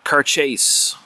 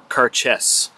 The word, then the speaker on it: Cairdeas: this is laphroaig's uh car chase or car chess it's pronounced something along those lines it's in gaelic so it's actually pronounced differently than how it's uh spelled out in english but this is